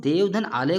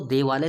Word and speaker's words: देवालय: हैं ना तो हमको देवालय शब्द मिलता है। देवधन आलय, हम इसको ऐसे उच्चारण नहीं करेंगे, देवधन आलय, ऐसे उच्चारण नहीं कर सकते हैं। देवालय, देव आलय, देवालय पढ़ रहे ना।